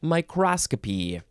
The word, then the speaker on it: microscopy: and then electron microscopy why do we have to change the emphasis I mean it sounds right to our ears in English but it seems like you you add a syllable and then you gotta change the emphasis of the syllables and not everybody knows to do that microscopy that's what you would want to say electron microscope electron microscopy